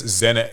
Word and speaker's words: Zenet: I mean they call it zenet, but do you pronounce it senet? I think it's zenet.